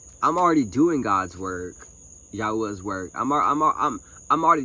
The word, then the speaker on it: Yahweh: Say his name right. Yahweh. Don't Don't just keep calling him God. Call him by his name. Yahweh. Y a hu ah.